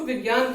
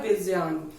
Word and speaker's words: विज्ञान: आपने सुना होगा कि लोग उसको विज्ञान कहते हैं, जबकि यहाँ पे विज्ञान नहीं होता है, उसको यहाँ पे राइट जो उसका प्रोनाउंसिएशन रहता है होता है विज्ञान।